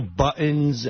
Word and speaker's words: buttons: Buttons. How do you say that word again? Buttons. Buttons, mugs, pencils. What is he saying? Why doesn't that sound right? It's buttons. T. You got to say a T.